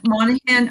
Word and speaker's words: Monaghan: that one hi everybody my name is spelth weird pronounced monahan i'm canadian but i